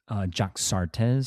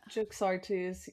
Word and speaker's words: Jaxartes: So the name of the river in Greek is Jaxartes. So it's spelled j a x a r t e s. Does that make sense? Am I pronouncing that kind of close to right? Probably not, but like like Yaxartes maybe like like Yeah, yeah, what is it? Yaxartes. Yeah, it's oh, it's Yaxartes.